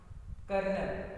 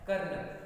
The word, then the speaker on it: colonel: तो हम देखते हैं कमांड कर्नल, यह स्पेलिंग की मत जाना, इट is very different of spelling of कर्नल, COLONEL, कर्नल।